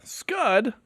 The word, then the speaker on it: Scud: Scud, that rhymes with stud, like stud.